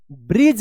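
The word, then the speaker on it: bridge: लेकिन फिर भी हम आपको बता देते हैं कि डी और जी जब एक साथ किसी भी वर्ड में लिखा रहेगा तो वहां पे ज उच्चारण होगा।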